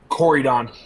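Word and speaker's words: Corydon: the War of 1812 that would be coryon c o r y d o n okay all right um I think that's the actual pronunciation don't ever check that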